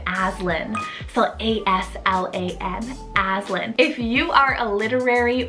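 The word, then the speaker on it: Aslan: here i have the name azlin phil a-s-l-a-n aslin if you are a literary or book worm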